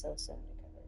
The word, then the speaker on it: SOS Undercover: I like the show Undercover Under Age, also known in YouTube as SOS Undercover, pronounced so undercover.